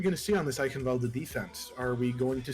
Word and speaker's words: Eichenwalde: Can you pronounce this map for me one more time? Eichenwalde?